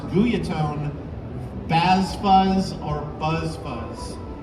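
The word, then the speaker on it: Guyatone: I own one it's a guy atone properly pronounced guia tone Vaz fuzz or buzz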